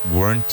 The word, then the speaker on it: weren't: You were shown the ropes, weren't you? Remember, weren't, one syllable.